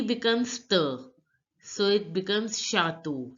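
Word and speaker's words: château: becomes shato T becomes the so it becomes shato shato now listen to the pronunciation of the Native French speaker chateau again chateau chateau D is called they in French which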